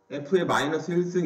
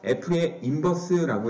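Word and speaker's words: f⁻¹: f의 마이너스 1승 이렇게 읽는 게 아니라 f의 인버스라고 읽어요.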